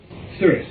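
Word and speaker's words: Sirius: got of her um are you saying Sirus or sirious serious yes that's correct I I didn't know how to pronounce are you referring to serious serious yes then understand in this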